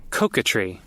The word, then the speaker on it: coquetry: one Che all right I found the actual pronunciation let's see catry catry catry and it's like flirty being being